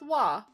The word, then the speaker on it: は: Sometimes ha is pronounced wa.